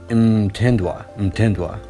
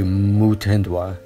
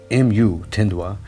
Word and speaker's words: Mutindwa: with the pronunciation because everybody was telling me um tindois but when i looked it up it's actually muthendwa mu tindwa and whenever i saw